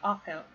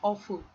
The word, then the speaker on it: awful: So awful. Not awful with U. So when you're pronouncing this word, remember that there's no U there.